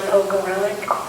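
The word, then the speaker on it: Pogorelec: Elana Pogarlic. How do you spell that?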